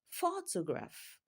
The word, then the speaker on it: photograph: Can you tell me the stress syllable? Yes, you got it right. And that is the first syllable. Photograph. That is the syllable that carries the stress in that word.